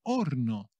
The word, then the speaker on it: horno: Los Super marios el horno cuidado que lleva la H que no se pronuncia en español eh el horno Ah